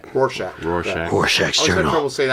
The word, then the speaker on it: Rorschach: Rorschach. Rorschach.